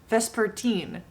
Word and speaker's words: Vespertine: i've finished the book that is pronounced vesper teen but i'm definitely one